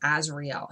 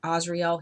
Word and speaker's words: Azrael: archangel azrael some people mispronounced his name as azrael his name is pronounced asriel he corrected me and told me okay and